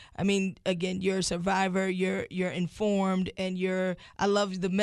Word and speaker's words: Cervivor: Like, I mean, again, you're a survivor, you're informed, and I love the message that you have and the way that you're able to deliver it.